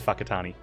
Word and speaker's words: Whakatane: It's not spelt with an F, Kaki. And yes, it is Whakatane.